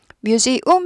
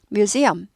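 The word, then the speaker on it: museum: 전부 예 대문자로 썼습니다 이름은 전부 대문자로 쓰고요 뮤지움 아니고요 엄이요 이거 모르신 분들 많습니다 뮤엄 뮤지엄 뮤엄 뮤엄 뮤엄 뮤엄 뮤엄 뮤엄 해서 여기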